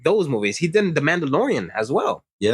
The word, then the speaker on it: Mandalorian: He didn't The Mandalorian as well. Yeah. For all those Star Wars fans out there, he did The Mandalorian. I don't know if I'm saying it correctly. Mandalorian.